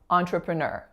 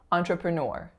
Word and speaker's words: entrepreneur: you'll also notice that it's that final syllable that's receiving the primary stress so the first syllable